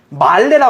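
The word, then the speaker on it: מלא: 히브리어에는요 이 다시 채우고라는 말이 말레라 그래요. 말레. 단어가 히브리어로 발음하면 말레예요.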